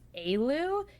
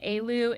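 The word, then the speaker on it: Éalú: It is Aloo.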